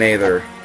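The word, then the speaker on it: Aether: okay Ike let's see an ather I think it is ether though just because I think the a is supposed to be silent but again you know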